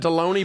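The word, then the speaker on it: Delony: My last name rhymes with the lunch meat, dude. How you get royal? You got Deloney, Baloney, and we have the Royals.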